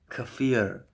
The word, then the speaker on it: kefir: Don't say kefir. Kefir. Don't say Don't pronounce it any other way. Say kefir.